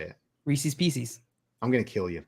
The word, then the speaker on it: Reese's Pieces: Reese's Pieces? No, it's Reese's. They are Reese's Pieces. It rhymes. They're supposed to rhyme.